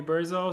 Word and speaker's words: Burza: So, wait, Burza or Buja? Which do you prefer? Burza is the Polish pronunciation. People call me Burzo, so whatever is easier for you I works for like me.